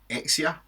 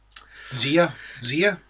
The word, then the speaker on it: Xia: Zia? Even though it's an X. So, Zia. Zia. Zia. That works. Zio Zia. Let's go with that.